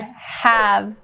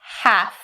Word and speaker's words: have: Now, the pronunciation you need to keep in mind is upon the word have. Don't change that v to a f. Don't say half. That means something completely different than have.